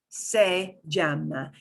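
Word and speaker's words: se llama: to look like this say jamna it's almost like meijamo but it's got some different vowels in there so to talk about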